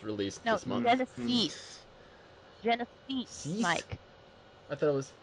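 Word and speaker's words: Genisys: Genesis, Mike. I thought it was Cease.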